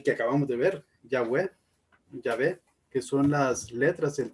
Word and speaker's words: Yahvé: Realmente el tetragramatón son 4 letras y según los estudiosos la forma más ideal de pronunciarlo es Yahvé en español y Yahweh en inglés, si no me recuerdo